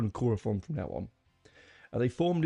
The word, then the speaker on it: Quorthon: And that singer was Quorthon. Now I often pronounce that wrong. It's Quothon, right? Quorthon, sorry.